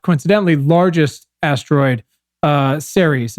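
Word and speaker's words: Ceres: coincidentally largest asteroid uh series is that is that how you say it Professor Series right Series yeah so uh cut to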